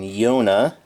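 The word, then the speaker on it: Jona: Then Yona. And yes, that's actually how you pronounce his name.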